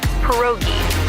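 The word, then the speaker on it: pierogi: Poi. Did I pronounce that right? It's pronounced perogi.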